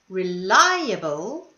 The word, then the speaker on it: reliable: last syllable this one however reliable is the second syllable not the second last reliable and here was the